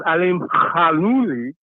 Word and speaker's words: Alimkhanuly: As far as Alimkhanuly, that's according to the ESPN commentators, that's how you say it.